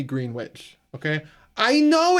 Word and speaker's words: Greenwich: It may look like it should be pronounced Greenwich, but it's not at all how it is to be said.